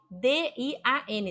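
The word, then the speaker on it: 电: Dian, com D, D-I-A-N, D de dado, I-A-N, Dian, quarto tom, Dian.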